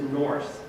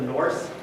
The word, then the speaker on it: Nurse: about the silent e probably the way they said it is norse with the like longer u and so later on